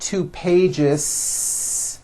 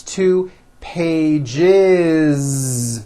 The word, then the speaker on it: pages: two pages it's not two pages unvoiced no it's two pages with a voiced Z even though you spell